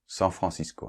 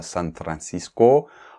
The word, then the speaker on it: San Francisco: Oui, San Francisco hein, on ne prononce pas "San Francisco", en français, on dit San Francisco.